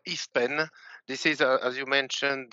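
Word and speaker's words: IFPEN: does it do in in french we pronounce eastpan this is as you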